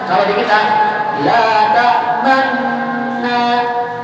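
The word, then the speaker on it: لا تأمنّا: Cara bacanya kalau di kita la ta'manna, la ta'manna. Salah kalau baca la ta'manna, salah. Harus ada gunung. Kenapa? Karena aslinya dia la ta'manuna. Aslinya la ta'manuna.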